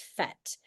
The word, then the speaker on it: PhET: So, the easiest the absolute easiest way to get to these free simulations is to type ph into your browser ph which we pronounce as fet and to go to the first link.